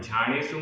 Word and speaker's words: झाणेषु: ट पूरा ट रुद्दट्ट, और झाणेषु में भी आधा ज और झा, ये पूरा एक शब्द है, एक समासित पद है। रुद्दट्ट झाणेषु रुद्दट्ट झाणेषु असूयगेषु असूयगेषु, यहाँ सा में छोटे ऊ की मात्रा है।